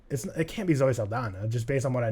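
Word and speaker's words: Saldaña: well as others cam it is Zoe Saldana it's not Zoe Saldana yeah it has an Enya that's pronounced and I also watched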